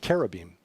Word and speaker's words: cherubim: got this idea that cherubim actually pronounced Kara beam are these chubby little